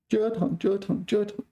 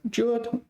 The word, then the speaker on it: 折腾: 折腾了半天结果什么都没做成 So this is like tossing and turning in bed 折腾 First tone 折腾 It's not normally first tone, so don't take a lesson here that jaw, that this one is normally pronounced first tone.